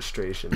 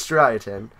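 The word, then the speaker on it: Striaton: like that well yeah we called it stration but it's it's strien and thanks for uh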